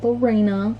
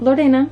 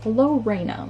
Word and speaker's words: Lorena: But yeah, I have a pet chicken named Lorena, not Lorena. We decided to go with the English pronunciation, so her name is Lorena.